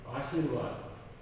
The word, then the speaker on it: आशीर्वाद: उसके बाद आ जाते हैं आशीर्वाद, आशीर्वाद, आशीर्वाद। ये व के ऊपर है, इसीलिए जो पहले उच्चारण हम आशी के बाद में र पढ़ेंगे, फिर वा, फिर द, आशीर्वाद, आशीर्वाद।